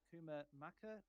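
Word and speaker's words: Kumah Makan: best to pronounce it Kuma Maka which is spelled as k-u-m-a-h Bass m-a-k-a-n and it also says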